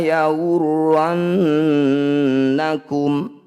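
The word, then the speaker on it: يغرنكم: Wala yawurrannakum. Nun bertasydid disebut bacaan gunnah musyaddadah. Cara bacanya harus dengung sama dengan yang tadi.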